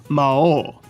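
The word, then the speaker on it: 魔王: When isekais talk about the Demon King, the Japanese word is Mao, with a long O sound.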